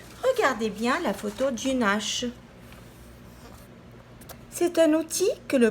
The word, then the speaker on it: hache: Pareil, U, N, E, H. Elle est muette.